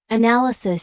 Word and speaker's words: analysis: Analyze stresses the first syllable. Analysis stresses the second and analytical stresses the third.